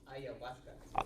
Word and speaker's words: ayahuasca: Ayahuasca. How do you pronounce it?